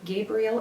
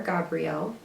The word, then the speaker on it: Gabriel: Angel Gabriel or Gabrielle, uh some people pronounce it either way, is the archangel of communication and the arts.